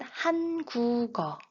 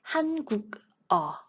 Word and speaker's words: 한국어: But why do we pronounce it han-gu-geo instead of han-guk-eo?